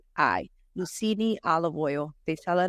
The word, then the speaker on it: Lucini: oil I wish I would have brought it it's spelled Lu u c i n i lucini olive oil they sell it at Whole Foods